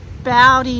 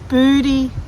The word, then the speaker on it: Bouddi: to go to now I thought it was pronounced bowy National Park John you thought it was booty